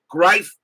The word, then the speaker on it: Greif: Greif Greif as in rhymes with rife. Okay, so it's rife, not grief.